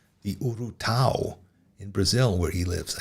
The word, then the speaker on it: urutau: And Fernando mentions a bird, a horrible bird, a cousin of the owl called the urutau in Brazil, where he lives, I guess. I've never heard of that, urutau. Am I pronouncing it correctly?